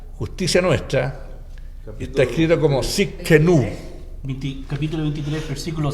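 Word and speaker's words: Tsidkenu: Bien, y hay otro nombre que vamos a estudiar hoy día, y ese nombre es un poquito difícil de pronunciar, pero el nombre es Yahvé Sidkenu.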